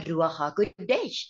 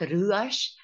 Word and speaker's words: Ruach: to tell you about the meaning of the rues in Hebrew we know that the word r